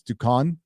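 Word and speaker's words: Duquesne: I knew who Jack Ducan's, I can't even pronounce his last name. It's Ducan.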